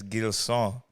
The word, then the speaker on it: Gilson: But the Haitian pronunciation of my name is Gilson.